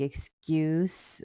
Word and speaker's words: excuse: the action verb like excuse we have the s sound which is kind of pronounced like the z sound um and that's why